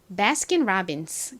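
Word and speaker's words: Baskin Robbins: 은요 리 소리가 나고요 여기서 오우는 어우 소리가 아니라 어우 우 어 아 소리 중에서 아 소리로 쓰였어요 다음 B 두 개 왔는데요 하나 오나 두 개 오나 비읍 소리납니다 아는 e 소리 나고요은 니은 소리 나죠 마지막 s n 스 소리가 나니까 bkin robins 되죠 여기가 아이여서 발음이 약간라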